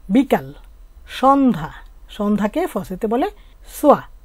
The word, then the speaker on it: soir: সন্ধ্যা, সন্ধ্যাকে ফসেতে বলে সোয়া। সোয়া কিভাবে বানান হলো এস এর সাথে ও ই এহ, তো ও ই মিলে কি হয় ওয়া, তাহলে এস এর সাথে ওয়া হলে সোয়া, এর উচ্চারণটা হয়ই না, তাহলে আমরা কি বললাম